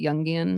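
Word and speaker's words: Jungian: very youngan that's how you say it right youngian yeah um and so it sure doesn't mean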